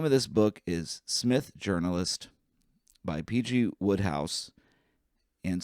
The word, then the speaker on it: Psmith: And like the song and the name of this book is Smith Journalist by PG Woodhouse and Smith is spelled with a P to distinguish it from other Smiths.